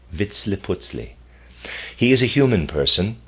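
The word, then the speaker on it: Vitzliputzli: it into our speech approximates vitle I'll spell that VI TZ Li i p u z l i Vitz putley he is a human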